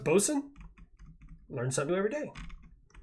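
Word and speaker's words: boatswain: quote boat bosen's mate really B Wayne is pronounced BOS learn something new every day uh the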